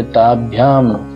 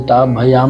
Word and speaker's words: ताभ्याम: ताभ्याम, आधा भ इसलिए ताभयाम नहीं बोलेंगे, ताभ्याम।